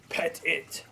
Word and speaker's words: Pettit: note at the bottom it says pronounce like pet it that is around the